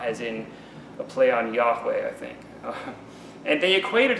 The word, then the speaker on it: Yahweh: lord slash jehovah slash yahweh you know yahweh's the modern pronunciation of the name of the lord old school would be jehovah our bible is usually